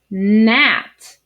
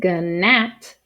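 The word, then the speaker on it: gnat: for this consonant diagram the letter g is the ghost letter so we're not going to say the g sound we're just going to say the n sound like this word nat a nat is a tiny fly-like bug again we don't say ganat we just say net just like this word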